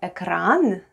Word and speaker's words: экран: And we have экран.